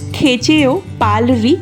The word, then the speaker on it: Khecheopalri: এটা এমনি জাস্ট, আর ভিতরে আছে হচ্ছে এখান দিয়ে এটা হচ্ছে খেচিপুরি লেকের। চলো এখানে আছি। আর আমরা বলি হচ্ছে খেচিপেরি লেক, এটার আসল উচ্চারণ হলো খেচেও পালরি লেক।